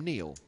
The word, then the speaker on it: Niall: And get to the fact that Niall is the Gaelic spelling of the name Neil, and is traditionally pronounced Neil.